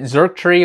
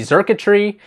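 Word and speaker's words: Xurkitree: This card I just pulled the other day, I think I pronounced it Zerktree, and it's really Zerkatree.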